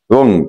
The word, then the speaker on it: wrong: رونج، طبعا الدبليو هنا سايلنت ما تنطقش.